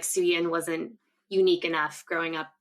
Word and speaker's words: Szuyin: Szuyin. Yes. The Z is silent. The Z is what throws everyone off.